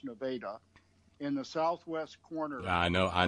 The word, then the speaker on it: Nevada: in a place called Nevada Missouri spelled like Nevada but pronounced Nevada in the southwest corner I know I know